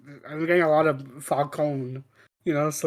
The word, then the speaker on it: Falcone: They say Falcone, not like in Batman Begins where they kept calling him Falcone. Falcone. I've been like rewatching Gotham and like it's I'm getting a lot of Falcone.